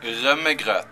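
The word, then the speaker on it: rømmegrøt: Rumagrat.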